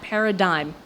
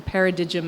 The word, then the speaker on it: paradigm: And so I had to stick very much to the figures that illustrated that paradigm, from paradigm as I used to pronounce it before my father told me better.